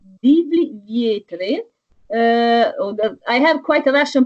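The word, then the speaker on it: Divlji vjetre: And your song is called Divli Vjetri. I have quite a Russian pronunciation. Never mind. Don't worry. Like Divli Vjetre is good.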